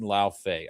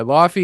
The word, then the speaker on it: Laufey: It's fucking Lao Fei. All right. Don't say Laufey. Yeah, Laffy is a Marvel thing. That's the Marvel pronunciation.